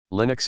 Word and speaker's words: Linux: Linux, pronounced with a short I, is an open-source computer